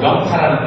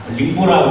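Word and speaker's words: 寧波: 그 천진하고 영파라는 데가 있습니다. 영파가 상해 밑에 있습니다. 링보라고 발음하는데 그 전에 그 영파는 옛날에 그 통일신라 시대 때 우리 장보고 장군 있죠?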